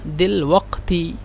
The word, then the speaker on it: دلوقتي: دلوقتي، دلوقتي، لكن عند الكتابة دلوقتي، لكن عند النطق دلوقتي، يعني قاف يعني همزة.